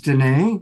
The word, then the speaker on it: Danae: Also coming back is Danae, which reminds me that it rhymes with Renee.